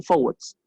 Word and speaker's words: forward: decir que ambos son forwards. Sí. Eh, ahí también como así como detalle. Cuando yo digo forward, la R casi que no suena. Sí, si quieren lo repito, forward.